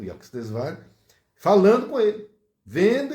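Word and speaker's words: Yukteswar: E o mestre dele chamava-se Yuktesvar. Eu não sei se a pronúncia está correta.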